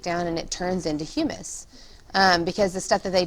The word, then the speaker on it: humus: That's how you spell it, H-U-M-U-S, not hummus, not hummus. Say that with me, humus, humus, okay?